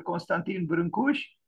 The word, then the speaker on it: Brâncuși: This is the Romanian pronunciation. He is well known outside of the country as Constantin Brâncuși. People pronounce his name in various ways, but the Romanian pronunciation is Constantin.